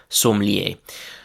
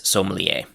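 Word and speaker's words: sommelier: So the first word from this category is somier. Um the English pronunciation is very close to this somier.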